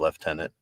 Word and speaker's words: lieutenant: I want um yeah I could pronounce it left tenant that's fine if they want left tenant right tenant whatever tenant they they want um there will be